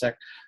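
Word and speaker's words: Sikh: uh students who are Muslim and siik um seik seek they pronounce it's pronounced siik um but but just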